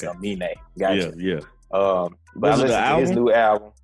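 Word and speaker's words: Aminé: It's Amine. I listened to his new album. Anime?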